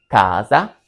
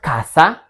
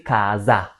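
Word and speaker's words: casa: Kaza kaza, not kasa. We say kaza. So letter s is pronounced like z between two vowels.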